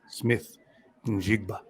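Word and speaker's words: Smith-Njigba: it uh you can you can Google how do you pronounce X name and then the guy comes on he says Jackson Smith jigba so it's Jackson's Jackson Smith and jigba Ohio State did not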